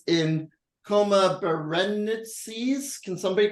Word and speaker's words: Berenices: It's in Coma Berenices. Can somebody correct me on the spelling? Berenices. On the pronouncing? Berenices. Berenices.